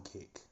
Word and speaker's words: Kik: so I go live on kick that's Kik k I know that there's another streaming app called kick that's spelled the traditional way that you spell kick but um